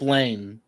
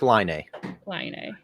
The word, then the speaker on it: Laine: deal okay new one patrick lane drake try again try again on my last name there i mean we need like the jeopardy music going the nine the nine no drama how do you guys tell me how these guys that is that is patrick lainey oh and the first one the first one was the e okay the first one was pekka renee patrick is a very